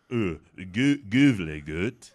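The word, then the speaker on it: Gävle: Oh, that's pronounced Gavle goat.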